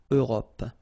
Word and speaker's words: Europe: Remember this final E, it's not really present. It only gives you the possibility to pronounce this P, PP at the end, okay? Europe.